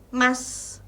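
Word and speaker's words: ます: baca Des atau ee penutup untuk Mas tulisannya seharusnya masu u-nya lagi-lagi tidak kita baca Lalu ada deshta i-nya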